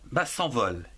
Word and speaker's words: s'envolent: Et ici, on ne prononce pas le E-N-T, alors que dans moment, on le prononce. C'est une question de mes auditeurs. Bien. Que se passe-t-il quand les crêpes s'envolent?